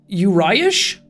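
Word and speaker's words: Uriaș: You pronounce that one as Uriash? Oh, so the accent under the S gives it like an SH sound.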